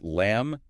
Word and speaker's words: lamb: Though the source points out it's lamb in Dutch, no B, right? But the silent B in English words like lamb, debt, doubt, that leads somewhere.